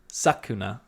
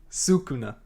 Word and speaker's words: Sukuna: We go to Itadori, who's talking to Sakuna, and says, "Terrible." Say it for me one more time. We did. We had a pronunciation. Sukuna. Thank you.